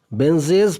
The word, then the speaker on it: Benjy: देखिए इसमें स्पेलिंग थोड़ा देखिएगा, बेंजॉय लिखा हुआ है, बेंजे लिखा हुआ है, बेंजी लिखा हुआ है, तो इसका आंसर हो गया सी, बेंजे, BENJY, बेंजे।